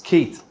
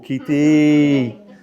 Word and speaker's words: Keith: the sentence and then you put an extra syllable at the end of my name. It's Keith, not in Australia. Keith, oh, Keithy.